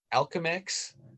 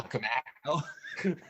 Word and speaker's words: Alchemax: And he's It sounded like you said Alchemex, like it rhymes with Malcolm X. Oh not yeah, Alchemax.